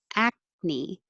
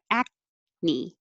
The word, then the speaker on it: acne: or snowledge 19 acne that c is a k sound but you don't release the k from the back the back of my tongue is touching high but i don't say ak me i just hold it there acne acne and a